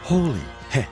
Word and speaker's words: Holi Hai: People chant, Holi Heh, which is pronounced Holi Heh, and means it's holy.